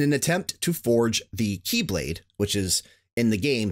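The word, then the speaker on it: χ-blade: keyblade war in an attempt to forge the Keyblade which is in the game symbolized his ex blade but it actually is pronounced Keyblade and gain access to Kingdom Hearts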